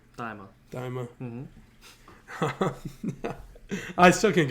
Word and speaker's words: Daima: not Dynama, Daima.